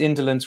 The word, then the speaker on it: Indolence: At least indolence rhymes with insolence, says Tomasz.